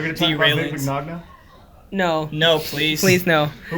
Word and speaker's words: Mignogna: Like, for so many years, people have never really knew how to pronounce Vic Mignogna's name. Yeah, no. It's Mignogna. Wait, it's Mignogna? Mignogna, yeah.